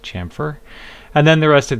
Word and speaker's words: chamfer: vertices it's like a bevel and it is pronounced chamfer and then the rest of these we're not